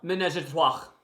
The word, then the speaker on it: ménage à trois: You can pronounce it right now, so then I pronounced it wrong earlier. Ménage à trois.